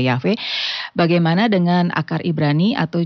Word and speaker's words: Yahweh: Ya, ada penggunaan nama tetragrammaton atau Yod-Heh-Wah-Heh atau disebutnya juga Yahweh, ya, diucapkan sebagai Yahweh.